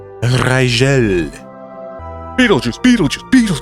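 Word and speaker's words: Rigel: almost anywhere on Earth also don't call it Riggle because it's pronounced Rael Rael Beetle Juice Beetle Juice Beetle Juice distance from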